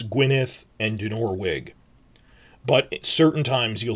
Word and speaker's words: Dinorwig: So, Dinorwig quarry is not pronounced Dinor-uig. That's a mistake I made for like a few days before.